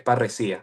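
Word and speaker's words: parresía: En español es sin la h es parrecía con acento en la I.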